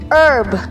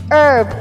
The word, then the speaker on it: herb: here's our seventh word herb herb or herb herb both ways are correct herb with silent h or herb with with clear h sound hala mangamot there's something